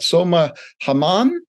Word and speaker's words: Soma Hammam: Help me if I pronounce it wrong, but Soma Hammam? Yeah, that's perfect.